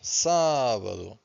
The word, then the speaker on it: sábado: Pay attention to this accent, so we stress the first syllable, sábado, and domingo.